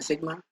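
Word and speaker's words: sigma: Surface charge density को denote करते हैं सिग्मा से, सिग्मा, ठीक है, इसको प्रोनाउंस करते हैं सिग्मा।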